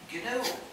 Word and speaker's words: GNU: still is G and it will always be G so please be careful and pronounce it g there is a Comm another